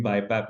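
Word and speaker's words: BiPAP: पैप लगाया जाता है इसको लोग डिफरेंटली प्रोनाउंस करते हैं आप अपनी प्रोनंसिएशन यूज कर सकते हैं आई लाइक टू से इट बाय पैप एंड सी पैप तो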